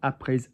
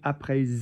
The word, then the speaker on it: après: avoir mangé, after leaving, après être parti, because there you've got A-P-R-E with the graph S, letter E with accent. And that S with a vowel after it will be pronounced like a Z.